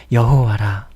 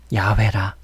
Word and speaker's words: 야훼: 제가 왜 여호와라고도 발음해드리고 혹은 야훼라고도 발음해드리냐면은 이 발음이 정확하지 않기 때문에 그래요. 예, 본래 이스라엘 이스라엘 민족들 있잖아요. 거기에서 저 옛날부터 발음이 어느 정도는 그렇게 돼 왔던 그 발음이라서 제가 나름대로는 성경에 대해서 묵상하고 깨닫고 이해하고 연구해 본 바로는 이 야훼라는 발음이 좀 더 정확한 것 같아서 저는 야훼라고 이렇게 발음하고 있습니다.